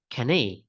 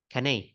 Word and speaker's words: carnet: Actually, then I remember that this one is a French word, so it should be pronounced like canet, canet.